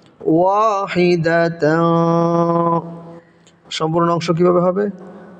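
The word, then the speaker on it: وَاحِدَةً: তানবিনের পরে এখানে তা এসেছে, তাটা হলো ইকফার হরফ, ইকফার হরফ হওয়ার কারণে এখানে নাকের ভিতরে লুকিয়ে গুণা করে পড়তে হবে। উচ্চারণটা হবে ওয়াহিদাতা, পড়েন ওয়াহিদাতা।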